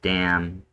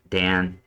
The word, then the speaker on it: Dan: So, right now we're here at the tribe of Dam. Dan. Say damn. The tribe of damn. It's Dan.